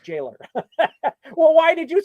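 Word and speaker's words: gaoler: Growller. Yeah, I like that. He's a gallower. Okay. That sounds cool. Nope. Sorry. It's just pronounced jailer.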